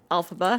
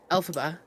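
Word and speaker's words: Elphaba: Etha yeah alha like alphaba alphaba the green one and I said it wrong just like that she goes no Mom it's alphaba alphaba right yeah alphab like alphabet that's how I have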